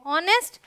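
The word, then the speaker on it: honest: कोई काम नहीं और कुछ ऐसे वर्ड्स जिनकी शुरुआत एच ओ से होती है वहां पर हम एच को साइलेंट रखते हैं और ओ करके शुरुआत करेंगे जैसे कि एच हो ही ना ठीक है तो ये है ऑनेस्ट यह है आवर ये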